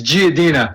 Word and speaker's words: Giardina: say your last name it's giadina giadina i was going to pronounce the r but italians we don't pronounce them ours along with massachusetts and